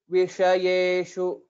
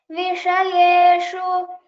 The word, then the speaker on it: Vishayeshu: Vishayeshu. Vishayeshu. Vishayeshu. Uttamam. So one point to focus here is, again, there is two shakaras, which is also the Murdhanya shakara.